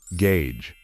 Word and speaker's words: gauge: might have already guessed this word is exceptional and should be pronounced in a non-standard way the correct way to say it is gauge for those who don't